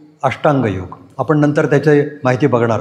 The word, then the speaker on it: योग: ले पण त्याचबरोबर खरा योग हा बाजूला राहिला मी मुद्दाम त्याचा उच्चार योग असा करतोय योगा असा करत नाहीये आणि तो असा करू नका तर तो चुकीचा उच्चार आहे त्याचा स्पेलिंग वाय ओ